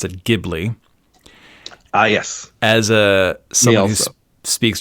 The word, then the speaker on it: Ghibli: But Miyazaki pronounces it Ghibli, so I'm going to go by Miyazaki.